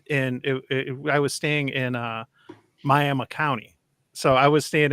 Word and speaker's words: Miami: Oklahoma spelled like Miami, Florida. M-I-A-M-I, I think it is. But in Oklahoma, you better pronounce it Miami, or they'll throw you out of the state.